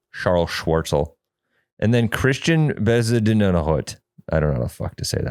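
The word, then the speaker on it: Charl Schwartzel: His first name is C H A R L Charles Charl but it's Charl Charl Schwarzel.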